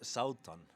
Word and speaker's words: Sátan: for having me um in Icelandic it's saon uh but but um yeah yeah it's uh most people don't have that second letter so we end up